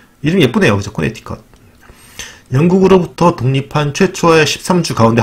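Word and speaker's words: Connecticut: 인구는 350만 명 정도 되고, 영어로는 코네티컷이라고 쓰는데 T 앞에 C가 무음이 된다. 코네티컷이라고 읽는 게 아니라 그래서 코네티컷이라고 읽어야 된다는 거죠.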